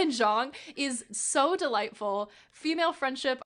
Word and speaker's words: Zhang: The partnership between Pahua and one of the other main characters, Zhang, is that Yes, proper that is pronunciation? perfect. Yes. Pahua and Zhang is so delightful.